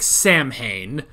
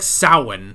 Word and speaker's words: Samhain: __ ] okay so it looks like Samhain but it is not how they say it they say it like soin like what I have